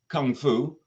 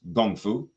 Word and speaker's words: kung fu: practice now this word Kung Fu which is more typically pronounced gongfu is actually a term